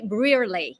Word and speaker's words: Brearly: Emily Brier. Did I pronounce it well?